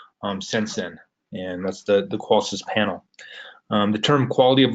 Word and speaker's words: Qolsys: So Qolsys, it stands Quality of Life Systems, the SYS, and that's how you say it, Qolsys.